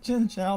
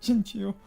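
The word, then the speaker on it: Chinchou: They don't call it Chinchow, they call it Chinchu.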